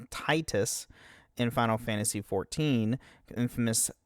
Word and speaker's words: Tidus: It's pronounced Titus. Yes. It'd be awesome. This caught contraction to everybody and everybody started calling Titus after this episode. I don't know anybody who pronounces it as Tetus apparently. I mean the thing saying that it's clo since the Japanese version of it is Tetus then it should be that way in English.